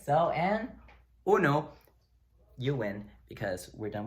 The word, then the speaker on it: uno: So the U is just like the double O sound in English.